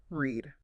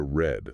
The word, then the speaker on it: read: It shifts to red, like the color.